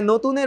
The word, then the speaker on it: নতুন: হ্যাঁ, নতুনের উচ্চারণ তো নতুন, নো ওকার যুক্ত।